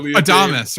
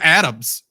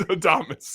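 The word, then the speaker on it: Adames: I'm sure you said adamus right I said Adams it's got to be Adams I know it's adamus yeah yeah yeah yeah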